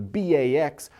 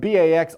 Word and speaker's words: Bax: letters as well and Bax also rhymes with acts so Bax is giving